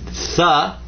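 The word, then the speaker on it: ث: then you can say tha for 3. And that's tha as in with. It's real light. 3, with. As a very light TH sound.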